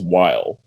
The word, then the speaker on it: wiles: and it said will, I think pronounced while. Sorry, it's pronounced while.